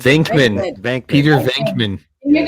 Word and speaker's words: Venkman: Venkman.